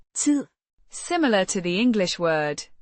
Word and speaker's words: tid: means time, pronounced Tid.